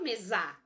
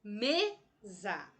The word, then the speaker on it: mesa: Eu não falo mesa, eu falo mesa. Percebe? Me é a sílaba mais forte da palavra mesa.